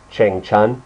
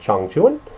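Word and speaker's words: Changchun: Chung Chuan Chong chuin if you read it out phonetically it would say Chang Chun but it's a Chong Chun this is actually where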